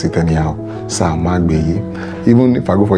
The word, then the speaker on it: Samagbeye: So you not pronounce it anyhow. Samagbeye.